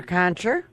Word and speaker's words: Gonsher: Gonsher? Yes. I'm saying your name wrong, aren't I?